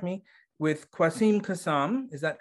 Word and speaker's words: Quassim Cassam: uh now i'm terrible with names if i mispronounce this please correct me with kwasim kasam is that correct yeah uh who is the